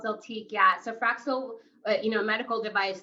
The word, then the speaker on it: Zeltiq: You ended up, it's Zeltique? Did I pronounce that right? Yeah. Okay. It's called Zeltique.